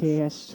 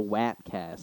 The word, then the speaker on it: Wapcast: Webcast. yeah, the Wapcast, and I'm like, it doesn't ring like that, bro. I'm like, The you gotta, Wapcast. yeah, I was like, you gotta say it right, the Wapcast.